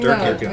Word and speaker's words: Durkin: It rhymes with jerkin.